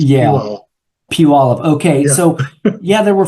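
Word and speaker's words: Puyallup: and is is is it is that the pyala river it is right well well that's that's the spelling but it's it's pronounced backwards it's Pew PE thank you very much that's a lot of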